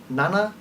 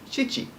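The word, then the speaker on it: 七: have Nana Ori again this is a number with two different pronunciations so it is the number for seven Nana SL Chichi Chichi is also used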